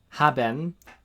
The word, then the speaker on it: haben: So, for Joseph Wright, at the start of words, in the middle of words between vowels, is an H as in English hat, so a ha sound. With their examples here of haben, to have, and sehen, to see.